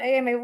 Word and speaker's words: Amay: It's a French Creole name. It's yeah, my great grandfather was Ami with one E, and then it's with an agu. So I always spell it Amay because that's how it's pronounced.